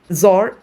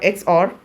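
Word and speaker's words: XOR: is equal to a zor x r you can pronounce it either way it's also called a zor or X or B is this is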